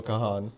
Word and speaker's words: Kahan: Kahan. I know it's how it's spelled, but don't do that.